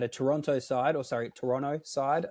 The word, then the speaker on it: Toronto: Um played through at a Toronto side or sorry Toronto side I think is the correct pronunciation there. Not supposed to pronounce the T I've been told.